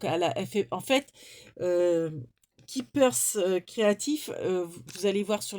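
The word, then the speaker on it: Ki2pers: alors, Keepers Créatif, tout attaché, tout en minuscule, .fr. Donc, K-I-2-P-E-R-S, créatif, bon, tout attaché, hein, comme ça se prononce, .fr.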